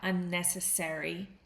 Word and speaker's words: unnecessary: But in North American English, we say airy. Okay? You can say it both ways, but if you're uh in North America, unnecessary is the way you would pronounce this.